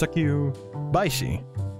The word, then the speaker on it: succubaishi: Okay, so it's succubaishi. So it is following the name succubi.